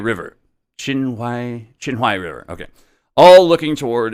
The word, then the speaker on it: Qinhuai: think that's how you say it, over the Qinghai River. Qinhuai River.